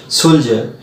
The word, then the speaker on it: soldier: Number one হচ্ছে সোলজার, SOLDIER, তোমরা ডি উচ্চারণ করো জব, সোলজার।